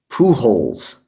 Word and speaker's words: Pujols: jones he said his name again albert pujols pujols that's how you say his name uh it